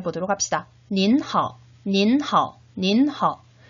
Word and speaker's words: 您好: 역시 3번씩 같이 발음해 보도록 합시다. 您好, 您好, 您好.